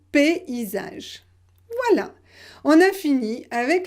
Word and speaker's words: paysage: Et ici, comment vous prononcez ce mot ici? Paysage, paysage. J'ai mis ici une correspondance pour que vous compreniez la prononciation, d'accord? Donc crayon, paysage.